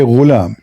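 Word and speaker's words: غلام: Al-ghulam بضم الغين, which mean you say ghulam. It's saying you how to say it.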